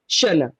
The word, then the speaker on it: Xana: Yes, but it is pronounced Xana. So the sound of Shuna. the X is different, but Oh, so anytime I need to say it now, I'll just say Shuna.